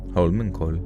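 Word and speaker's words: Holmenkollen: Hullman call. They say Hullman call, but then there's an e at the end.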